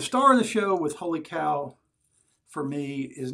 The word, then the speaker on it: Wholly Kaw: the artisan Wholly Kaw, it's spelled Wholly as in W-H-O-L-L-Y, and then Kaw is spelled K-A-W. So sometimes I even will say Wholly Kaw, but Sri, who is the owner and creator and mad scientist over there at Wholly Kaw, it's my understanding he pronounces it as Wholly Kaw.